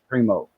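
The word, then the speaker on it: Primeaux: pot s seven pot Primo that's he came up with that variety of pepper and he's a Primo that's spelled p r i m e a ux so anyway uh his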